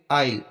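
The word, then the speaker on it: isle: आइल, अब यहाँ पर देखो आई और एल के बीच में एस आया है, तो इसको हम आइल पढ़ेंगे, यहाँ पर एस साइलेंट रहेगा।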